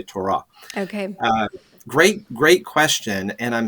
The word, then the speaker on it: Torah: I think we usually do say Torah. In the Hebrew, the accent tends to be on the second syllable, so they would say Torah.